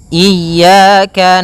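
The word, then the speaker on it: إياك: Pada lafal ya ini hati-hati dalam pelafalannya ada dua kesalahan yang sering terjadi. Yang pertama yaitu dia memanjangkan iya. Nah, seperti itu harusnya dia ee ditekan dan dilembutkan. Iyaka. Iyaka. Nah, kemudian jangan sampai dibaca panjang.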